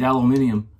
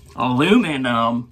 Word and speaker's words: aluminium: uh subscriber friends overseas aluminium i know it's americans say it weird aluminum it's aluminium even canada says aluminium i think you guys